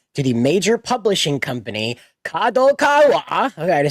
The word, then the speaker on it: Kadokawa: issued a recommendation to the major Publishing Company Kad Kawa I said it right that time and its